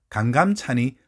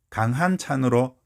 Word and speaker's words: 강감찬: 에이션 정착되어 있습니다 마찬가지로 강감찬이 강한 찬으로 돌아갈 일은 없을 것 같습니다 거의 강감 찬으로 정착되었다고 봐야 합니다 무엇보다 강한 찬이라는 논리가 강감 찬이라는 논리를 압도하지 못합니다 그러면 지금까지 계속 쓰인